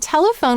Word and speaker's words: telephone: The first syllable is tel, t, e, ul. The second syllable is e. And the third syllable is phone. F, O, N, silent final E.